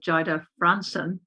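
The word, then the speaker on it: Jayda Fransen: last night when nicola had her standoff with jaida franson that's the right pronunciation and it's all been all over twitter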